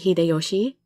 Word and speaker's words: Hideyoshi: Thus, a historical figure like Toyotomi Hideyoshi, Toyotomi.